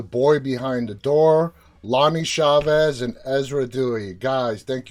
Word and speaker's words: Chavis: It's Chavis. It's all good. Everybody mispronounces it.